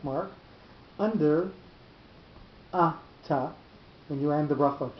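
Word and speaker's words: אתה: The word ata, when it's in the middle of the sentence, has that normal form with the accent on the last syllable. If it comes at an end of a sentence, two things happen. The first thing is the accent moves to the first syllable, and the second thing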